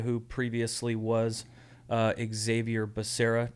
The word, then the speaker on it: Becerra: previously was uh xavier becerra despite how um some people pronounce his name like president biden yeah when he said javier bacaria or whatever it was that was pretty funny